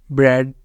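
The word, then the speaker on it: bread: उसके कुछ एग्जांपल्स अब रूल नंबर टू क्या है ए is silent in the combination of ई ए ई ए के कॉमिनेशन के अंदर जो है ना ई होता है साइलेंट जैसे यहां पर हमारे पास इसकी भी कुछ examples ब्रेड हेड डेड थ्रेड स्प्रेड ई और ए दोनों का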